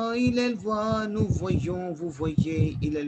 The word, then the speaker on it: voit: voit. Because N and T would be silent and E sound is A. Il voit.